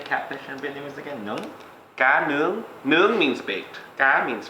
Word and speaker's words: cá nướng: Cá nướng.